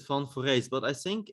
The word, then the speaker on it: van Foreest: you say it yeah i i pronounce it fun for race but i think it's